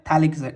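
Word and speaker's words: phthalic: इसको हम क्या बोलते हैं, थैलिक एसिड, सॉरी, इसको क्या बोलते हैं, पैथेलिक नहीं, इसको प्रोनाउंस करते हैं थैलिक एसिड।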